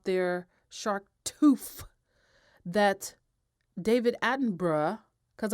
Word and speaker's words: Attenborough: that david attenborough because i'm going to say it like they say it over there because i really want to say david attenborough you know like the five boroughs of new york because that's how it's spelled but david attenborough uh